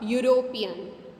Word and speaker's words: European: Same way, a European, a union. Here sound begins with Y, not with U.